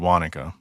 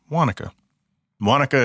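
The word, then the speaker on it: Guánica: then she lived in a little town called wanica Gua n IA but it's pronounced Wan wanica is like an hour and a half drive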